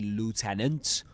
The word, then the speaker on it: lieutenant: When Leon says, "Okay, Lieutenant, I'm ready." But he says actually, "Okay, Lieutenant." Lieutenant because he speaks American English. Right? Let's listen to the pronunciation of lieutenant and lieutenant once more.